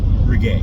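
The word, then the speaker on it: Ragut: we have a town, we have a street in town called Ree. It is spelled R A G U T.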